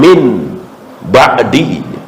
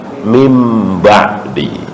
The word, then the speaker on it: mim ba'di: Nah, salah satu ilmu tajwid adalah jika nun mati ketemu ba, itu namanya apa? Iqlab. Dibacanya bukan min ba'di, tapi mim ba'di.